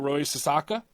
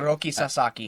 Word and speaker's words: Roki Sasaki: about done with pitching but they're looking at Roy sasaka MH I think that's how you pronounce his name H Roki Sasaki Roki Sasaki okay um paron my ignorance on